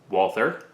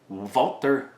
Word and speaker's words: Walther: review on au vaulter technically this is not actually a walther this is a colt licensed vaulter produced gun i'm going to keep saying it wrong just because i'm sure it's triggering some of you but once we pop